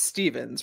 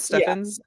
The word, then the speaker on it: Stephens: Um, and your last name's pronounced Stevens, right? Am I or it's not Stephins?